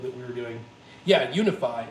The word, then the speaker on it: UniFi: Yeah, Unify, and I'll spell that for you. It's UNIFI by Ubiquiti.